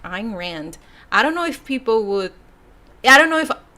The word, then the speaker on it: Ayn Rand: So I say Ayn Rand, which sounds a lot like Iran.